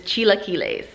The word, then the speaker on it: chilaquiles: come for me because i'm dumb the proper pronunciation of this dish is chilaquiles okay goodbye something called chiquiles they will typically